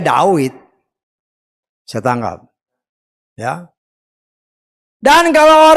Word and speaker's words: David: Dulu wau, sekarang jadi fa. Dulu Dawid sekarang jadi David. Tetapi aslinya ya Dawid.